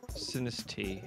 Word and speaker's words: Sinistea: Well, who's gonna catch the Sinistia? Oh, is that how you pronounce it? it's Sinistine. It's a tiny little teacup. Sinistea.